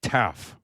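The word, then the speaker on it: Taaffe: Oh, and by the way, I I would uh Michael, it's it's Taff. Oh, it is. Okay. Yeah, I was pronouncing it like Laffy Taffy, but it's Taff.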